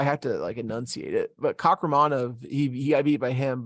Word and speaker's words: Kakhramonov: Kakhramonov. That's how you say it. I have to enunciate it. But Kakhramonov, he got beat by him.